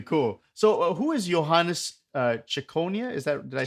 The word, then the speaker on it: Ciconia: So, who is Johannes Ciconia?